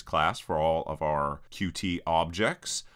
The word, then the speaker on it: Qt: for all of our QT objects, or Qt objects is actually how you pronounce it. I just can't bring myself to saying cute, but I guess saying cutie over and over again isn't weird.